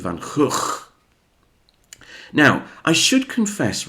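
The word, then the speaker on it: Van Gogh: Now then we come to two Vincent Van Gooffs or as it's supposed to be pronounced I think Vincent Van Hook.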